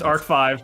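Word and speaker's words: ARC-V: 5D is nuts it's pronounced ark five get it right it is a Roman numeral so go ark five it's also the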